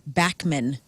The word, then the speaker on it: Bachman: No, but I did ask Randy Bachman of Bachman Turner Overdrive, how do you pronounce your name? Because I've heard it both ways. And he said that it's Bachman.